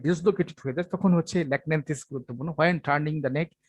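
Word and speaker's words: Lachnanthes: ওকে, তারপর হচ্ছে ল্যাকন্যান্থিস, এইচ এর উচ্চারণ এখানে হবে না, ল্যাকন্যান্থিস রেয়ার মেডিসিন, সিমটম আছে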